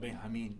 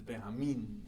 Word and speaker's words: Benjamin: pronunciation, like Benjamin is not Benjamin, it's Benjamin.